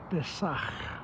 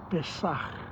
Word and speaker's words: Pesach: He talks about the whole event of Pascha, and he says that the word Pascha is in Hebrew pronounced as Pesach. Pesach. And what Pesach means is the passing of darkness to light.